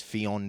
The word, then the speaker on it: Ffion: believe her pronunciation is Fon Davis there's two FS but you only hit you only say the first one I believe yeah that's